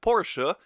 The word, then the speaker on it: Porsche: He's of course very pissed, so he goes back to his Porsche, and yes, I pronounce it Porsche.